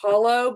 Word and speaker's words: Holle: Or like Well, that's how I spell it, but it's actually pronounced hollow.